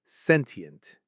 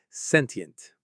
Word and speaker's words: sentient: The most common way is sentient. Sentient or sentient. The stress is on the first syllable, sen. Let's try it. Sentient. Sentient.